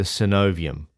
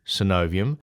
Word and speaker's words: synovium: third really important part of the joint the synovium I'll spell it for you s y n o v